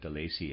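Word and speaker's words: Delaisi: I'm pronouncing that De Lacy. It's spelled D-E-L-A-I-S-I, readers aside.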